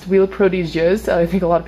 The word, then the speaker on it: Huile Prodigieuse: Anyways, this right here is the Nuxe, it's pronounced Huile Prodigieuse.